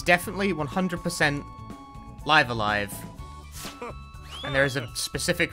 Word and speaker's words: Live A Live: there uh live alive it's pronounced live alive it's definitely pronounced live alive oh he can wear